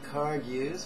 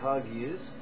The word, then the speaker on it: Kagyu: The 2 of the major sects, the Nyingmas and the Kargyus, or the Kagyus, or the Kajus, depending on how you want to pronounce it, prefer to call this Tonglen.